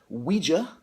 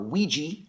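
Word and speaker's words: Ouija: got a book called we Jia or we G as a would have said when I was a little kid I've since learned that that's not the correct way to say it this is by Andrew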